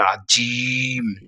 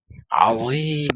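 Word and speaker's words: عظيم: আজিম আজিম আবার অনেকে আজিম এভাবেও আমি বলতে নিজ কানে শুনেছি সুতরাং আমরা এখানে বলবো যে আপনারা প্রথমে আইনের উচ্চারণটা শুদ্ধ করবেন আ এরপরে হচ্ছে জটা নরম করে জিম আজিম তাহলে সুবহানা রব্বিয়াল আজিম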